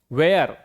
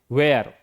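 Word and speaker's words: where: जब भी इस तरह के लेटर्स हो डब्ल्यूएच के बाद तो हम उनका उच्चारण तो हम एच का उच्चारण नहीं करते। वेयर क्या पढ़ेंगे इसे? वेयर।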